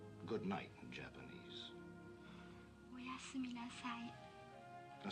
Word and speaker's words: おやすみなさい: おやすみなさい.